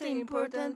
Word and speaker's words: important: 옵션일 뿐인데 T를 flap을 줘서 T를 리을처럼 발음하는 거예요.